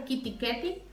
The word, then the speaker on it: KitKat: Y tiene también, por ejemplo, el KitKat, que es el chocolate, es Kitty Ketty.